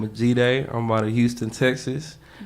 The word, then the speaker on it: Jide: Jide. Yeah. What's the G Like Jide. B-Day but? Yeah, exactly. Okay. That's how I pronounce Jide, yeah.